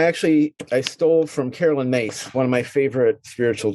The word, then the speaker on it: Myss: i stole from carolyn mace one of my favorite spiritual teachers and it's failed myss but pronounced carolyn mace she says where to